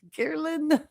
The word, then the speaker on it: ghrelin: The ghrelin, I say it, I think I always mess up the pronunciation, but ghrelin, I can see it spelled Gehrlin.